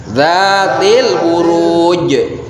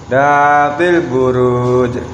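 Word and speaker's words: ذَاتِ الْبُرُوجِ: Qalqalahnya sing rada tebel. Barang. Zatil buruj. Nah, di sini huruf jimnya itu wakofnya itu ketika akan wakof maka harus dibaca panjang karena ada huruf yang menyuruh untuk dibaca panjang.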